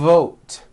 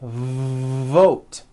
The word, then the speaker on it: vote: sounds for w sounds be careful not to do this the word is not W it's V vote every V that you